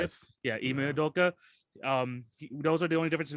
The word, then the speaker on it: Ime Udoka: Yeah, Ime Udoka.